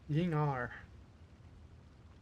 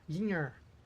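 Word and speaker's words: Ying'er: Ying-Ar. Why is that pronounced Ying-Ar? That's an E. That's an Ying-Er. Ying-Er.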